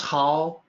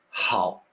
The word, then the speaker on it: 好: there this character how is pronounced differently in traditional Chinese depending on context it can be how meaning good or how meaning like same character slightly different sound because the difference is in pitch English speaker may have